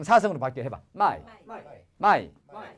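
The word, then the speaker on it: 卖: 팔매자 중국 발음 사성으로 바뀌어 해봐. 마이.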